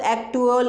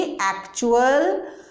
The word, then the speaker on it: actual: है, तो इसको अब एक्टुअल ऐसे करके पढ़ने लग जाएंगे। लेकिन नहीं, इसकी साउंड क्या होगी? एक्चुअल, रिचुअल, म्यूचुअल, right.